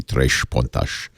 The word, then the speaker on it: Três Pontas: Now, I know in Portuguese it would be Três Pontas, but I'm saying Três Pontas because I want you to be able to spell it, because I want you